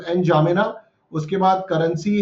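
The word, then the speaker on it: N'Djamena: Shard and जामेना, and indie जामेना, D silent हो सकता है इसका, तो एन जामेना।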